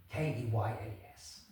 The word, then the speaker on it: Keynes: excuse me, young man, I know it's spelt Keynes, but here in the village we prefer to pronounce it Keynes. So if you refer to it again, I hope you don't mind using that."